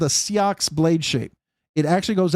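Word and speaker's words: seax: Seox. It's s e a ux. It's pronounced seox.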